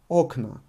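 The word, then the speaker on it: окна: as a aknow but in the plural the first o is emphasized and because of this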